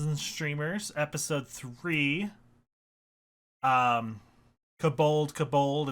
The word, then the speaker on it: kobold: streamers episode three um kabold kabold it's off to work we go i know it's um cobalt but it rhymes better if i say kobold is it kabald yeah